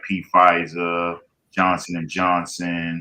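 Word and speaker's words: Pfizer: The exports valued at around 10 billion accounting for 11% of US pharmaceutical exports and that's companies like P FISA Johnson and Johnson. The P is silent.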